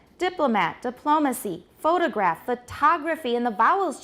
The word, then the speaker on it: diplomacy: direct creations of words so we have the stress on the first syllable and all of these diplomat photograph monotone but look at the second syllable we have a choshan we have an abstract noun made from these it's still a noun but the sh the stress has shifted to which syllable the second diplomat diplomacy photograph photography